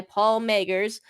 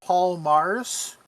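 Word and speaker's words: Paul Magrs: Doctor Who in Wonderland by Paul Magers, a novel involving Lewis Carroll and Alice's Wonderland. I think because it's Welsh, it's pronounced Paul Mars.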